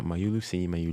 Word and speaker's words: Mayulu: Have I pronounced that right? Yeah, Mayulu.